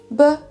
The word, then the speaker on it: bananas: La petite feinte en anglais, c'est qu'en fait il y a seulement un seul des A qui se prononce comme un A, c'est le deuxième, et les deux autres ça va être ce fameux schwa sound, ce qui nous donne bananas.